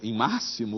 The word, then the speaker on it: máximo: Em vexame, em máximo, o X soa como C.